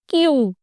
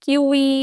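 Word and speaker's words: queue: to pronounce this वर्न क्यू simply क्यू नॉट क्यूई और क्यू यू यूई और anything like that simply क्यू what does the word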